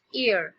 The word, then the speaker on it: heir: नाउ ये जो word है HEIR, हम इसे H से प्रोनाउंस नहीं करेंगे, H इसमें साइलेंट है, सो इट्स ear.